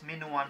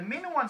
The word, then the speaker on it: Minoan: my tongue slipped and i mispronounce it is instead of like minoan civilization i end up saying minion civilization now min one civilization